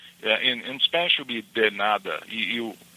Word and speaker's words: de nada: You write in a certain way with the D-E and then N-A-D-A, but how you say it, it's a D-I in Portuguese, a de nada. So the way you say it will be de nada.